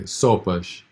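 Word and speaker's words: sopas: is a sopai soup if I wanted to say soups I would add an S to this word and say sopush and every time the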